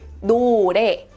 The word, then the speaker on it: 노래: In Korean, the pronunciation is 노래. Repeat after me. 노래, 노래.